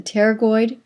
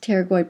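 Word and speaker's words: pterygoid: this is called the teroid process you have one on the right and one on the left the teroid the p is silent teroid process remember a process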